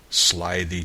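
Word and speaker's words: slithy: often been asked me how to pronounce Slide the toes the eye in slide thee is long as in writhe and toves is pronounced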